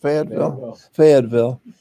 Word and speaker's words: Fayetteville: Fayetteville.